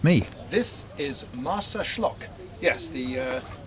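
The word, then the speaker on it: Marsaxlokk: can we oh shh it's me this is martha schlock yes the uh x is pronounced like a shirt and it's an historic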